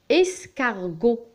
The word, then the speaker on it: escargot: escargot.